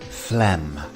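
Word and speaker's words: phlegm: can see on screen the pH is pronounced as an f and we have a silent G so this word is quite deceptive Flem next up we have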